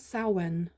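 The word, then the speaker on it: Samhain: What did you say it was? Sen. Sen. Yeah, sen. I always pronounced that wrong.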